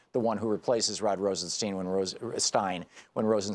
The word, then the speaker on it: Rosenstein: Rosenstein and who is whose name is always pronounced Rosenstein on the fox news network in right-wing hate radio but it's Rosenstein I think they're trying to make it sound